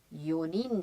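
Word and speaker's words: 四人: इची, नी, सान, योन पूरा होना चाहिए, लेकिन यहाँ पे योनिन है, तो इसलिए ये भी एक एक्सेप्शन है।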